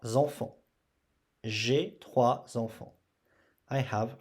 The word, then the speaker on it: trois: And the R, we have to hear it. So when you say, don't forget the R. R. 3. On prononce 3. J'ai 3 enfants. J'ai 3 enfants.